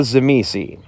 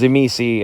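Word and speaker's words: Tzimisce: or the Shema say I've heard them pronounced a couple different ways I was originally introduced them as zimisi and so I'm just gonna default to zamisi the Carpathian vampires the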